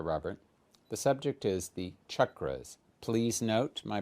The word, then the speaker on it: chakra: minutes with Dr Robert the subject is the chakras please note my pronunciation that's chakra not chakra not chakra for